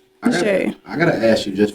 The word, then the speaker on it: Xiaa: Spell it differently, but say it the right way. It's simple, y'all. It's Xiaa. Xiaa. Xiaa.